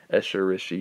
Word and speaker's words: Escherichia: known that's escherichia coli so I broke this down for you so you should be able to hopefully say it right Escher Rishi coli uh everybody just calls